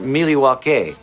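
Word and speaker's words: Milwaukee: Actually, it's pronounced Miliwake, which is Algonquin for the good land.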